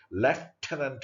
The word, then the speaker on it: lieutenant: Lieutenant Mallet. We are writing the spelling as lieutenant, but pronunciation is Lieutenant Mallet.